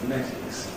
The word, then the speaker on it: phonetics: So people who talk about phonetics all the day weaken that to say /fə/ in the first syllable, /fəˈnetɪks/.